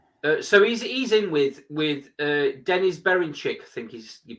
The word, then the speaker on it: Berinchik: So he's in with Denis Berinchik, I think you pronounce his last name. Oh, Baranchik. Baranchik.